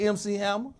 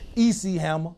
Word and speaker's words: MC Hammer: trying to look like MC Hammer. Shit. In our neighborhood, we always had that one kid that couldn't pronounce it right. EC Hammer. Yeah. EC Hammer. Who the fuck is that? It's MC.